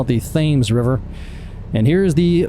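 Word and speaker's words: Thames: in gron Connecticut so this is the themes river which is spelled like the Tims but if you live in Connecticut you call it the themes River and here is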